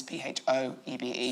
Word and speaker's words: Phoebe: So just remember it's always P-H-O-E-B-E. Phoebe. Phoebe. It's spelled not the way it's said.